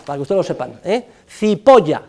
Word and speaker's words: Cipolla: Cipolla significa en italiano el señor cebolla, para que ustedes lo sepan, Cipolla se escribe, Cipolla se pronuncia y significa cebolla.